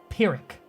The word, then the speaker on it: Pyrrhic: crucifixion died in phibian says his pronounced Pyrrhic got it Pyrrhic I'll trust him because